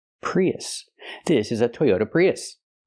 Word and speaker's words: Prius: like even a Toyota prios it's not pronounced prios prios Toyota prios it's pronounced Toyota Prius use the short uh sound like cup and up us us not o